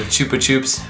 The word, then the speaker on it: Chupa Chups: Yeah, the Chupa Chups. Yeah, I think it's pronounced Chupa Chups, because I know the Lonely Goomba like referenced them in one of his videos.